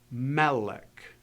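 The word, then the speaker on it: מלך: So as you read this word, you're going to elevate your voice at the beginning of the word to indicate the inflection, melech, and you'll accent it there.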